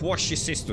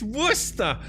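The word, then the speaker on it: Worcestershire: He pronounced what's the sha sauce as wash your sister sauce.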